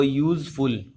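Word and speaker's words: useful: अ यूजफुल, अब यहाँ पे आप देखेंगे कि लेटर तो यू है, बट जब इसको प्रोनाउंस किया जाता है तो पहली साउंड ये क्या देता है, य। अ यूजफुल, य एक कॉन्सोनेंट साउंड है, हमने साउंड को देखना है, लेटर को नहीं।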